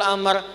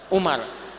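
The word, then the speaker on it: عمرو: nahu begitu nanti jadi kalau nanti baca hadis ada wawya maka dibacanya apa Amr Kalau tidak ada wwunya dibaca apa Umar nah yang ini Abdullah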